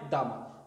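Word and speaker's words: дома: Dom, qui est une maison, le pluriel, c'est pas domi, c'est doma, dama. La prononciation change aussi. Donc le O va se prononcer comme un A. Ça devient dama.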